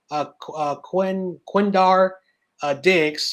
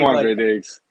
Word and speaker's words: Quandre Diggs: So first we're going to talk about, if I pronounce his name, you could correct me, Quindar Diggs. I hope I said that correctly. I'm sorry. Quandre Diggs.